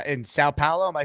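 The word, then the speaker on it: São Paulo: is it like to live in s in South Paulo am I saying it properly I don't I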